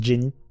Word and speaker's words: Jenny: Alors, il prononce Jenis en français. C'est un choix. Bon, normalement c'est Jenny et voilà.